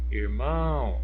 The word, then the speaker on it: irmão: palavrinha irmão irmão irmão irmão Olha a sílaba tônica pronunciada com mais intensidade mais força foi o irmão irmão Então nesse caso aqui como está na última posição eu classifico ela como oxítona Ok do lado eu